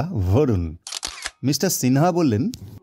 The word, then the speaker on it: বরুণ: বাঙালিদের মতো নাম হলেও আসলে বরুণ উচ্চারণটা ভরুণ।